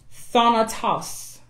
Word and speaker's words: thanatos: In the Greek, the word death is thanatos. Thanatos. And it's spelled THANATOS.